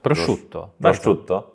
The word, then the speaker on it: prosciutto: polsku napisane prut Nie nie już źle przut prosciutto Prosz Tutto Prosz Tutto o